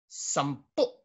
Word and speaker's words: sampu: So The accent is to the last, so how do you say this with a glottal stop? Sampu.